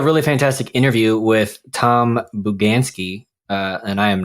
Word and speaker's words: Bugansky: stop recording yeah we are here with tom buganski is that i'm not sure i'm i've been pronouncing your last name correctly you did you